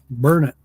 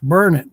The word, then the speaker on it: Burnet: to say it um it's like yeah burn it it's it's burn it D it learn it you just because it's spelled differently know you got to say it the way the locals say it that's in Texas